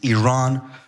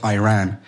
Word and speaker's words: Iran: to the provocative question you're pronouncing our country's name wrong our country is named Iran not Iran please once and for